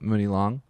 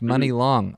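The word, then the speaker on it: Muni Long: also just did a quick Wikipedia of uh Mooney long and yeah her name is Priscilla Renee Hairston um yeah that's awesome oh it's pronounced money long that's cool I like that yeah there you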